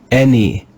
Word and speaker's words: any: This is the word any, any. It's one of the words that uses this sixth sound of the English letter A, the sound eh, any.